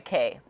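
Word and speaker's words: Caye: My full name is, but I go by Kay, and it's spelled C-A-Y-E.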